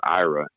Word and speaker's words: Aira: who I work with called IRA, and it's spelled AIRA.